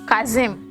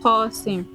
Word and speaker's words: Qasim: So it's Qasim, not Kazim, not Kazo.